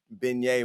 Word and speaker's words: beignet: so i had to somebody had to tell me how to uh pronounce that i thought it was a bang box i didn't know what beignet was what is a